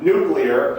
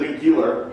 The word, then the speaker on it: nuclear: guess but I mean some words like nuclear he pronounces a nucular yeah we're going to